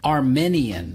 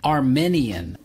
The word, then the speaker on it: Armenian: with i a n Armenian Armenian Armenian it's not correct to say Armenian you have to use the long e Armenian the country is